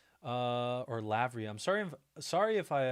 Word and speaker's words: Lavry: Larry by the way I thought it was um an R this whole time but it says l a v r y so I'll start saying lavry or Lavery uh I like